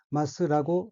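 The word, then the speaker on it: 鱒: 일본에서는 송어라는 뜻의 이 한자를 마스라고 읽습니다.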